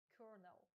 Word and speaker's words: colonel: Зверніть увагу на вимову слова. Воно пишеться як colonel, але вимовляється як colonel.